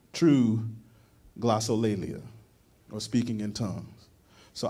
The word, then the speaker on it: glossolalia: Google and they will give you the right pronunciation but glossolalia is the greek word for speaking in tongues